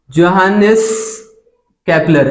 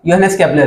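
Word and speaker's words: Johannes Kepler: नाम था क्या था जोनस कैपलर एक्चुअली इनका नाम हम क्या प्रोनाउंस करेंगे यो हैनस य यो हैनस कैपलर से इनका नाम है बराबर ये था योनेस कैपलर तो ये साइंटिस्ट आए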